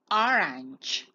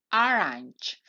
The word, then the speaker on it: orange: i naranja do es orange orange como puedes ver la del final no la pronunciamos en este caso en